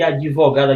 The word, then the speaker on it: advogada: a mesma coisa de advogada advogada que tem a dvo né o d é mudo né que o pessoal fala né não tem o i mas adivinhar tem o